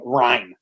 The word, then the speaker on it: Ryne: Also, why the fuck is his name Ryan? Because it's spelled Ryne, which is a great call.